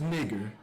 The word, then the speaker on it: niger: It comes from the Latin word niger, pronounced nigger.